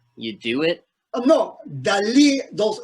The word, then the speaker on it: Dalí: Y me llamo es Salvador Dalí. Dalí. L'accent is on Dalí.